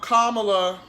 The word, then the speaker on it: Kamala: Tomorrow, Kamala, I said it right.